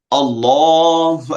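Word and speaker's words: الله: একটা জিনিস খেয়াল করবেন, যখন মসজিদে আজান দেয় দেখবেন আল্লাহু আকবার, আল্লাহু আকবার, আল্লাহ বলে, বিকজ মুখ ভরে উচ্চারণ করে, কারণ এটা মোটা হরফ।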